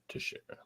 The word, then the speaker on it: Teixeira: Is that how you pronounce it? Teixeira? Yeah, Teixeira.